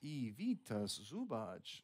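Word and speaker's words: Ivica Zubac: time 12 taking in the first round name pronounced Evita zubich let's say born in Bosnia of course no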